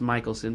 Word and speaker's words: Mikkelsen: the way, is spelled, it should be pronounced Michelson, but whatever, I'll let it go. Mads Mikkelsen, who played Hannibal Lecter in the TV show Hannibal, starting in 2013.